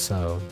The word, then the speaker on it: Tso: like Polo a polo it's pronounced like the Japanese Su but an O so it's so I mean that makes